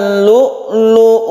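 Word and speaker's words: لؤلؤ: Yan fabiayyiala Hai irobbikuma tukazziban your ujumine human Lulu Wal Marjan dan bertemu dengan hak-hak yg kemudian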